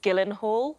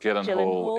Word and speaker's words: Gyllenhaal: don't know how you say it but it's gyllenhaal gyllenhaal is the correct answer david badil i wonder